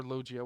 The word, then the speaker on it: Logia: And we've discovered that Ace also has a Logia fruit, or Logia, whatever. In Japanese, I believe it would be pronounced Logia.